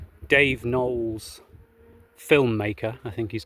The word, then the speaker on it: Knowles: Yeah, I learned that fact on a YouTube video called Dave Knowles Filmmaker, I think he's called. Knowles with a silent K at the beginning.